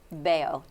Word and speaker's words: bello: It's not an R. It's 2 Es L's.